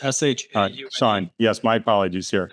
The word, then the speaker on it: Shaune: It's Shaune, just like you. Did I say Shaune? I'm sorry. Yeah, it's spelled funny. It's S-H-A-U-N-E.